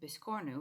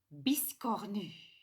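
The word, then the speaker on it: biscornu: you don't pronounce it this corner but you pronounce it you pronounce it of course in a beautiful French way here we go ladies beast Connie so from now on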